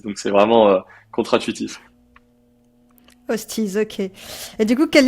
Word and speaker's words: Hoosteez: il nous appelait toujours sachant que ça se prononce hostise. Donc c'est vraiment contraduitif. Hosties.